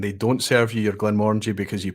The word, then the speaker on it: Glenmorangie: So Rich was pronouncing Glenmorangie wrong, was he? Glenmorangie, perhaps, or yeah, I must admit, I'm pretty sure I've got it stuck in my head as Glenmorangie.